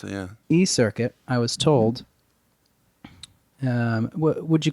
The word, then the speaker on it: eCirkit: That's exactly how you pronounce it, yeah. eCirkit, I was told, would you call it a social network?